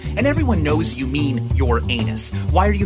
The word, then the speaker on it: Uranus: Your anus? Come on. Even if you try to avoid calling it Uranus by pronouncing it Uranus, you still have to say urine, and everyone knows you mean your anus.